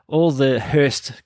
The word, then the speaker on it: Hirst: You can just Google the Hirst Brothers. It is spelt Hirst, H-I-R-S-T. It's like first, but with an H.